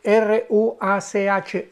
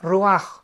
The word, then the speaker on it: ruach: la palabra hebrea roaj, que se escribe r u a c h. Ruach, pero se pronuncia Ruaj.